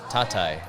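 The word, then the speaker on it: Tatay: Or you can call me Tatai. Tatai. Tatai. Good pronunciation, Yeah.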